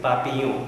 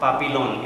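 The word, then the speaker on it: papillon: does this mean butterfly pronunciation is poppy you it is not pop alone it is not pop it on it is poppy poppy oh you means butterfly kill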